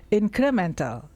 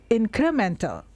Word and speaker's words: incremental: Example real growth is incremental. This one is often mispronounced. So the correct pronunciation is incremental. incremental. Eh, di belakang itu ada tal ya, tal a l tapi enggak dibaca a-nya.